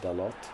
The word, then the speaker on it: Dalot: And then I don't know if Dallo is pronounced Dallo or Dalot. Because I heard Cristiano Ronaldo say his name one time and he definitely said Dalot.